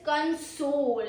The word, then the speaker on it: console: Pronunciation two is console. Second syllable stress. Really really important.